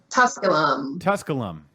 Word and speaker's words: Tusculum: way from Bernie at make sure I'm pronouncing this right is it tusculum Tusculum yeah the original name of